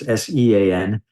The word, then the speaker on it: Sean: And Sean is Irish, so it's Sean.